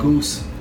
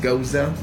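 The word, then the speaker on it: Gose: I thought it said goose. Sorry. It's Hinche if Mexicano. you read it, you know, it says goose. You know, Yeah, but it's no, pronounced Goza.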